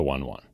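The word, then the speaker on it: One:1: like we mentioned that it was like the ratio one horsepower to 1 kilogram or whatever uh but the name o e colon numeral one is pronounced one: one it's not one one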